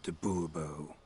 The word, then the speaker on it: du Bois: de Bobo fine monsieur du Bois the emphasis falls on the last syllable Bobo mm-hmm see now